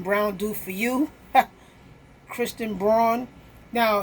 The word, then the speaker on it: Braun: to say what have brown what can Brown do for you Kristen Braun now his name is pronounced brown but I actually worked